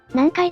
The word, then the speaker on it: 南海: 中国語での発音は南海でも半海でもなく、南海なんだね。